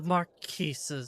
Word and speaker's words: Marquis: I do know that the S is silent. Did Marquis.